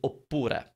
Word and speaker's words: oppura: and that word is oppura opura means or it's doesn't have a different meaning it's just opura means or but it's three syllables it's got a double p it fills your